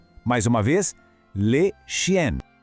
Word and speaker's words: chien: O segredo aqui é o som nasal no final. Aquele som que parece que sai um pouquinho pelo nariz, sabe? Vamos tentar? Le chien. Mais uma vez, le chien.